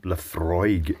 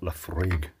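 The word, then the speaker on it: Laphroaig: Apparently, I was pronouncing it wrong. Lefroig is how it's not Lefroig.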